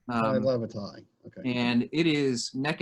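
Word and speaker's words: Tai Lavatai: be Xavier Arlen or, and I'm going to say this name wrong, Taya Lavavante? Ty Lavatai. Ty Lavatai.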